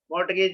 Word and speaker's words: mortgage: You will say mortgage. Mortgage means pawn, girvi rakhna. But here, T is the silent mortgage.